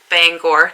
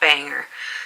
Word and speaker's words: Bangor: to the forefront but bangor is pronounced bangor not banger so in bangor maine